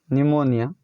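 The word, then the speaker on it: pneumonia: बोलते हैं शान साइकोलोजी मनोविज्ञान साइकोलॉजी उन्हें विज्ञान निमोनिया में जलन भी चीज होती है बीमारी निमोनिया और आप GN है पे साइलेंट समय कि हम अस्तर से संबंधित को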